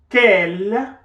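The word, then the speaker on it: quelle: is feminine in gender quell which is pronounced the same way as our first scale is written with two l's and an e which is the feminine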